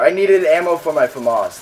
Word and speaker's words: FAMAS: needed ammo for my famas that's just like famous it's pronounced famous hey we should make